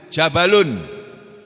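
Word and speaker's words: جبل: tanpa Isim nakirahnya itu jabalun Jabal gitu Kalau orang Arab membacanya Jabal kemarin atau umroh kita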